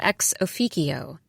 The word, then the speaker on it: ex officio: I found myself interrupting colleagues during meetings to correct their pronunciation of ex officio. It's Latin with a hard C, please.